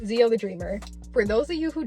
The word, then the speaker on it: XioTheDreamer: That's as far as I've come to understand how it's pronounced, XioTheDreamer.